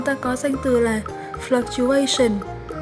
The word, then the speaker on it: fluctuation: Ngoài ra thì nếu như các bạn đọc từ này là fluctuation thì cũng đúng nha. Và cả hai cách đọc này thì chúng ta đều nhấn ở âm 3 nhé.